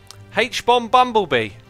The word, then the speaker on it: Humbleby: vamps and prime saying you can say my name like h-bomb plus bumblebee h-bomb bumblebee or not I will